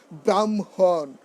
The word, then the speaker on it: ব্রাহ্মণ: অনেক দিন যাবৎ ব্রাহ্মণ, আমি 10 বছর যাবৎ ব্রাহ্মণ দীক্ষা নিয়েছি, নট ব্রাহ্মণ। উচ্চারণ করতে হবে কি ব্রাহ্মণ।